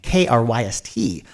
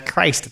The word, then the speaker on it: Kryst: So Christ the Conqueror, excuse me, I want to pronounce it as Christ because of the way it's written, Kryst. But vocally, it is referenced on the recordings as Christ the Conqueror in songs like